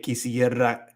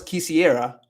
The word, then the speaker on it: quisiera: No es quisiera. So it's like it's not like a really long R, like a double R, o como la doble R, pero todavía como se pronuncia como así. La quisiera, quisiera.